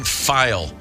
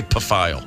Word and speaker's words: Pfeil: 1964, a Long Island homeowner named Helen Pfeil, P-F-E-I-L. I'm going to pronounce that. Let's say Pfeil. Helen Pfeil. The P is not silent.